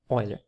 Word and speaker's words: Euler: Então, pessoal, não é relação de Euler, certo? É relação, se pronuncia Euler.